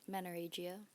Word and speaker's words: menorrhagia: She even had treatments for, can you pronounce this? Menorrhagia.